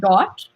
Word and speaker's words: Dotte: And I run a little brand called Dot. It's spelled DOTTE, and I basically combine the word replacing period as a dot and then doting on you.